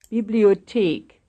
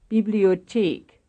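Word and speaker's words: Bibliothek: and here is one stressed on the fourth syllable bibliotique bibliochic page seven 43.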